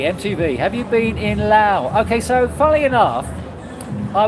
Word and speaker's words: Laos: videos is set in Laos. He keeps saying Laos. I'm sure it's pronounced Lao.